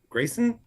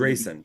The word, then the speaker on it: Drayson: They always I'm gonna slide a look to Grayson. Drayson. With a D. Drayson. Tracy. Drayson. Rhymes with Drayson.